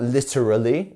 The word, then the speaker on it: literally: an interesting one because we have so many letters that we don't pronounce here so it's not literally it's literally literally so